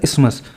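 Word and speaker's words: isthmus: इसमें TH silent है और इसको बोला जाता है इस्मस।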